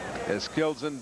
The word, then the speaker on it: Eskildsen: Eskildsen does not actually pronounce the D in his name, although it's a little hard to say it without that.